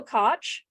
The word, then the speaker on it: Koch: wrong in the podcast I do rhymes with Notch okay Koch did I do that